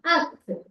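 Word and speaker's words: ஃ: அப்படின்னு ஒரு பெயர் வந்துருச்சு இதை எப்படி உச்சரிக்கணும் அப்படின்னா அக் அக் அக் சரிங்களா சரி இப்ப வந்து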